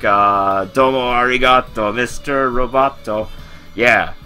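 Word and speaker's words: ありがとう: from like uh domo arigato Mr robato yeah Arigato for thank you Arigato it's the long o at the end Arigato goas to be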